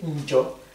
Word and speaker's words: njo: Pris tout seul, il y a un N apostrophe qui est prononcé, njo.